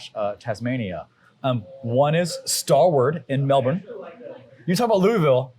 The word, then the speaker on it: Melbourne: Because you don't say the last part of Melbourne. Louisville. Melbourne, the last part. Melbourne? It's not Melbourne. Melbourne. It's Melbourne. Melbourne. It's actually like BIN.